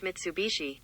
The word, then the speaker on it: Mitsubishi: okay google how do you say mitsubishi that's pronounced mitsubishi the mitsubishi driver sued both the mercedes driver